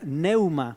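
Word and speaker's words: πνεῦμα: La palabra aquí en griego es una palabra que se pronuncia pneuma, que quiere decir aire, viento, soplo.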